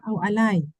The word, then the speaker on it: alay: Oh, alai. Yeah, alay. Yeah, I think if I'm not mistaken, the pronunciation should be alay, right? Yes, alay. Yes.